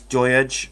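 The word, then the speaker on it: Doidge: Rob Boyle asks, what's your thoughts on Christian, I don't know if I'm going to pronounce his name right, I think it's Doyage, who plays for Hibernian.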